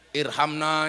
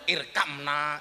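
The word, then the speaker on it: ارحمنا: jasadina tapi mandi Pak Irhamna ya arhamarahimin orang dulu bacanya irkamna ya arkamar Kimin loh mbah-mbah saya itu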